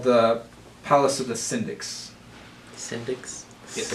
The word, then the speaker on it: Syndics: It's called the Palace of the Syndics. Syndics? Yes. Syndics. S-Y-N-D-I-C. S. Could you spell that?